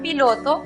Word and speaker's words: pilot: La siguiente sílaba, lot, es cerrada porque termina en consonante. Por lo tanto, aplicamos el sonido cerrado de la vocal o, igual que en español. La pronunciación para la palabra piloto entonces es pilot.